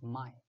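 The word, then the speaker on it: 脉: The vessels in Mandarin we pronounce as mai.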